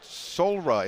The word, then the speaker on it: Soulra: of all tell me what it is that solra is that how you pronounce it solra that's correct yeah one of the things getting